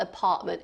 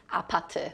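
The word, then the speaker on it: 아파트: It's not apartment, it's apate.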